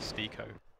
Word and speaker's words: Stiko: He said Stiko. He even said Stiko like Hiko, like Nico, Stiko.